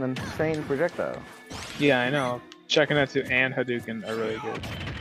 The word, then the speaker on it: Shakunetsu: Shakuminiku? Shakuminiku. Shakuminiku. Shakuna Hatsune Miku. Shakuminiku. Shakuminiku. Like, I guess you're trying to pronounce fucking Shakunetsu. Yeah, it's Shakunetsu.